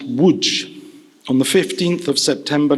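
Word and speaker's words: Łódź: my father was born in Lodge pronounced Wood on the 15th of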